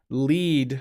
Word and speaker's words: lead: english so i can lead my dog or i can have um gasoline can have lead in it it doesn't anymore but it lead and lead are pronounced with two different vowel sounds so it's very tricky